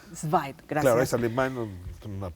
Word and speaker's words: Zweig: Zweig. Zweig, gracias. Claro, es alemán, una No, pronunciación medio rara.